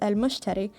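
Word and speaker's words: المشتري: how you say it it's the arabic name for the planet jupiter and it's pronounced as al-mushteri so i guess i'm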